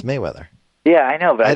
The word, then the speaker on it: Mayweather: kind of calling him Merryweather through this whole podcast I guess it should be I'm saying his name wrong aren't I yeah it's Mayweather yeah I know but